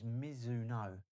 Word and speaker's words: Mizuno: Miz I always say it wrong. It's Mizuno.